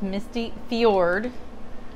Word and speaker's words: fjord: misty fior and that looks like misty fajord it's not that it's misty fjord that's how you pronounce it and we're gonna just